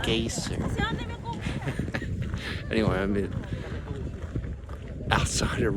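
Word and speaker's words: Geysir: in in uh it's it's spelled G E Y S I R but I don't think it's geyser. It's more like gaseer.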